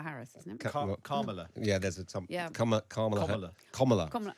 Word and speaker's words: Kamala: Kamala Harris, isn't it? Kamala. Yeah, there's a Kamala. Kamala. Well, it's complicated because it's meant to sound like comma in America, but then they say comma differently, don't they?